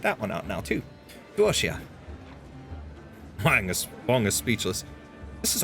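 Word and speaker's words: 多谢: Duoxia. Meaning thank you is pronounced roughly as D-W-O-R -S-H-Y-E-H. So Duoxia.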